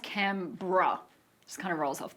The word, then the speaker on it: Canberra: It's pronounced Canberra.